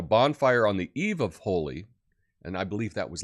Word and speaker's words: Holi: thank you and now we're talking about holy holy holy holy and that's how you pronounce it h-o-l-i holy it's an ancient Hindu festival celebrated in India